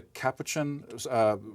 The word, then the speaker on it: Capuchin: And monkeys at the, am I pronouncing it correctly, the Capuchin Research Laboratory at Yale University?